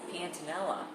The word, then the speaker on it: Pantanella: How do you pronounce yes, it? Pantanella. Pantanella.